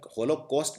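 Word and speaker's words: Holocaust: तो हॉलोकॉस्ट, यहाँ पर हॉलोकॉस्ट बोलने में आता है COST, लेकिन लिखा जाता है CAUST।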